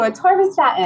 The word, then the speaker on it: atorvastatin: So I butcher the pronunciation of this one, but it's going to be, Torvastatin. thank you, atorvastatin.